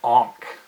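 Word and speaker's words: ankh: with a circle on top that's called it honk in a nkh very important it's a way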